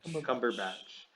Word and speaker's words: Cumberbatch: Cumberbatch.